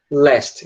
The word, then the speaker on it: last: Mas a pronúncia é last. Então, a gente tem fast, past e last. O A virando E em todos eles.